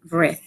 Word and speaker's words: read: Read se queda igual en escritura, pero cambia de pronunciación. Aquí es read con pronunciación con la letra I y acá es con la letra E, red, como si estuviéramos diciendo el color rojo, red.